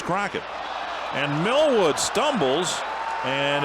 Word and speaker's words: Cloquet: Crockett, Minnesota. Some people pronounce it Cloquet, but last night it was Crockett.